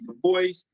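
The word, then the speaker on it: Du Bois: sociology of racism but some people say the voice because he was a French heritage uh from the island of Haiti I say Dubois but most Americans say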